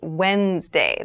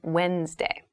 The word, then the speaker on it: Wednesday: So Wednesday is the middle day of the week, but keep in mind this is pronounced Wednesday. There's a D there, but we don't say Wednesday. We say Wednesday.